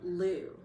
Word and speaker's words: Luu: And then last name Lou.